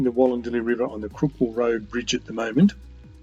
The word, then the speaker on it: Crookwell: somewhere it becomes the Crookwell Road. Crookwell is spelled C-R-O-O-K-W-E-L-L, Crookwell, but it comes out Crookwell for most people.